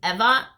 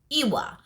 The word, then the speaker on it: Ewa: i realized i accustomed the v for people to say my name eva is because otherwise people call it iwa that's how it's the spelling is it's ewa but it's ever so i went back and it's all ever and if somebody said